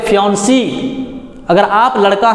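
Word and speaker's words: fiancé: देखिए स्पेलिंग देखिए FIANCE, फियांसे पढ़ेंगे इसको फियांसी पढ़ेंगे, इसको फियांसे।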